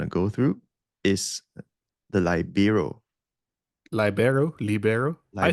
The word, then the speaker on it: libero: It's a E sound, right? Yeah. Yep. Yep. So libero.